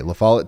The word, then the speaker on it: La Follette: Okay, La Follette, Tennessee. This is the town that we've been talking about. I've been mispronouncing it.